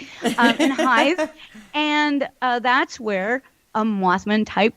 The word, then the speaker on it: Hythe: Park, I believe that's where we were, in Hythe. Did I say it right? Hythe, yeah. Yes, finally I pronounced something right. In Hythe.